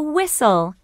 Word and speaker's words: whistle: rhino this is a whistle what's the middle sound in whistle that's right whistle can you hear that sound in whistle no that's right the t is silent whistle page 68 B